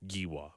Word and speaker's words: Giwa: The G is pronounced like Ga, so not Giwa. Okay. So we'll hear it from Shane tomorrow to have official confirmation, but I believe it is Neff Giwa.